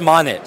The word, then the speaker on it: Monit: I pronouncing this correctly is it om Monet yeah Monet Monet just Monet okay so the O is the logo just Mon Mon I'm here with the